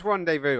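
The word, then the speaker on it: rendezvous: laboratory area Rand de Vu yeah it is randev Vu I gladly knew it was rev Vu my my my pronunciation or my pronunciation my reading skills are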